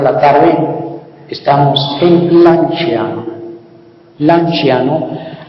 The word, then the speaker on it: Lanciano: Lanciano la sed se pronuncia como chen suave.